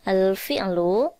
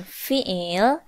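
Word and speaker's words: الفعل: Nih, al-fi'lu. Cara bacanya al-fi'lu atau biasa disebut dengan fi'il.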